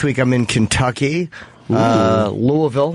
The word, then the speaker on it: Louisville: week yes next week I'm in Kentucky uh Louisville like the locals say and uh then I'm doing my theater